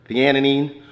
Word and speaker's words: theanine: If I drink coffee, I have to use theanine, say it right, theanine with it because it kind of like calms my nervous system down a little bit.